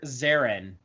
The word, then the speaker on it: Xarin: This is Dr. Zarin, and that's spelled Xarin.